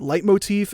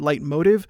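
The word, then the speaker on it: leitmotif: heard people complaining that I call it light motif and some other people spell it and pronounce it light motive it's all anglicized German so it's kind of a potato potato sort of thing don't worry about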